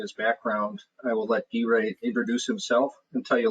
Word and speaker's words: Guijae: Guijae, who I can now pronounce his name properly, so I have it locked in my brain to make sure I address him properly.